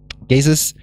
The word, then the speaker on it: GESIS: so what is gazes gazes uh is an infrastructure for social sciences if you pronounce it English it's like Jesus we have small buttons